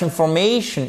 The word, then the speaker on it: information: Information, les mots qui se terminent en shun, vous avez l'accent tonique sur la... C'est donc cette syllabe-là qui est mise en relief sur la syllabe précédente, donc toujours l'avant-dernière.